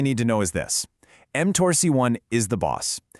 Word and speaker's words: mTORC1: That's pronounced mTORC1.